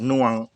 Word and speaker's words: หน่วง: ช่าง หำ เขา เรียก หน่วง นะ หน่วง ออก เสียง แบบ อีสาน อีสาน หน่อย หน่วง คล้าย ๆ ตวง อ่า น่วง น่วง ก็ ขั้น ตอน ที่